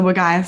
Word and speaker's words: Wergaia: It's called Wergaia Jarlin, is how you say it.